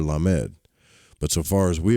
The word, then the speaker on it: lamed: The Hebrew letter lamed, pronounced lamed, means ox goad, so that it suggests the idea of control, prodding the ox.